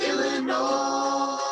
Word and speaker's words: Illinois: It ends with an S, but don't say it, boy, when mentioning Springfield, Illinois.